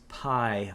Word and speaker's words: Pye: business is called Lucas pie bio and it's spelled Pye but like pronounced Pi like like what you eat you know so Lucas